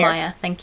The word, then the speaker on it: Meyer: or Meyer, I don't actually know how you pronounce it. Danielle? Meyer. Meyer, thank you.